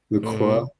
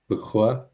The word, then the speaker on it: LaCroix: But that you actually say, look, you actually pronounce the X, though, is interesting to me. Is it? Well, yeah, I mean, it's an interesting combination. You have the vowel pronunciation correct, but then you pronounce the ending consonant.